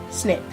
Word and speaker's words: SNCC: belonged to the Student Nonviolent Coordinating Committee, SNCC, pronounced SNCC, followed on the heels of dramatic sit-ins against